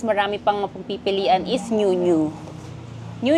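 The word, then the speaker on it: NYU NYU: Then, another store na murang-mura at affordable, tas marami pang mapagpipilian is New New. New New is spelled as NYU.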